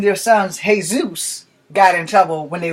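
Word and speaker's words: Jesús: who name their sons hey-zeus got in trouble when they went to school you know your son my son is name says oops boy spelled jesus but his name is hey-zeus it's not illegal to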